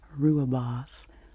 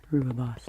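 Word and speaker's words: rooibos: type of tea correctly ruab boss r o i b o s I used to say a Rubios and then I realized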